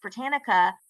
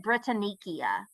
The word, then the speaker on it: Britannica: gave her the note that it was pronounced Britannica, she would continue to pronounce it Britannicia, Britannicia, Britannicia.